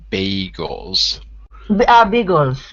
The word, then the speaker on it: bagels: Those are pronounced bagels.